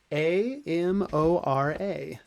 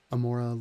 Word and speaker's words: Amora: in uh right in that in can you spell it a m o r a and then the last yeah Amora and then